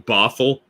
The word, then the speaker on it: Bothell: I'm guessing Bothell, like brothel without the R.